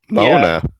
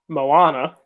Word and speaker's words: Moana: Mona. Mona. Tell us about the Rock. So it's actually pronounced Moana.